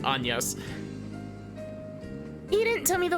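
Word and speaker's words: Agnès: been I've been actively trying to not say Agnes cuz I've like that's how I read it for the entire first time I played this game despite the fact that it obviously pronounced anas he didn't tell me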